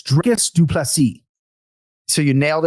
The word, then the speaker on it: Dricus: But yeah, I go with Dracus on broadcast, and that's how we have gone throughout his UFC career. But some of my colleagues do say Dricus because when you listen to this file, it's open to interpretation.